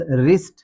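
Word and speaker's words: wrist: Next है हमारे पास रिस्ट। रिस्ट में भी डब्ल्यू साइलेंट हो जाएगा। रिस्ट में भी डब्ल्यू साइलेंट होगा। इसे हम रिस्ट नहीं पढ़ेंगे। इसे हम रिस्ट पढ़ेंगे।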